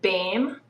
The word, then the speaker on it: Boehm: uh privilege of having a guest uh bom on is that how you pronounce your back name we pronounce it bam but boom whatever it's a tricky one okay